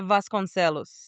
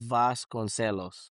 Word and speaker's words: Vasconcelos: Julia Vasconos. Vas Concelos.